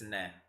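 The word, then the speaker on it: ναι: Blue boy, yes in Greek is like no in Dutch, so it's ne.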